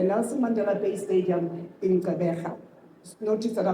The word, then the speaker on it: Gqeberha: This historic match will take place on Saturday the 12th at the Nelson Mandela Bay Stadium in Gaba. Notice that I pronounced that properly.